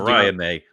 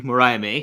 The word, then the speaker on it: Mariah May: and Maria May versus Maria May beg thank you Mariah May that's why I'm here